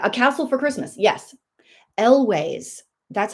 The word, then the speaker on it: Elwes: Elways.